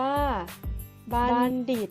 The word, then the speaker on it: บัณฑิต: อีก รอบ นะ คะ สรุป แล้ว คำ ที่ มี ตัว ทองมณโฑ จะ ออก เสียง ได้ 2 แบบ นะ คะ คือ 1 ออก เสียง เหมือน มี เด็ก เช่น คำ ว่า บัณฑิต มี มณฑป บัณเฑาะว์ ค่ะ และ บัณฑุ ค่ะ ส่วน ใด ที่ 2 ออก เสียง เหมือน ทรหาร เช่น คำ ว่า มณโฑ และ มณฑล มณฑา ถ้า คุณ คีย์ ทัณฑสถาน จัณฑาล